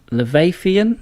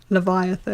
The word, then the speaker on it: Leviathan: in Hell The Entity leviathian is that how you say it Leviathan Leviathan okay all right sorry Leviathan